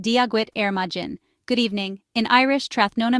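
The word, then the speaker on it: Dia duit ar maidin: The English phrase is good morning, and in Irish, it's dia duit ar maiden, pronounced dia gwit ar majin.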